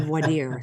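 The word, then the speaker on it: voir dire: if you're in California we butcher the the term vire. That's how we say it in Texas. If you say it differently, you don't need to be here. So but that would be voadier somewhere else, right?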